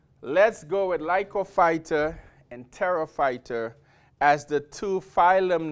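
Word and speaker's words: Pterophyta: name was tarot fighter again the p is silent so it's pronounced Terra fighter and in the book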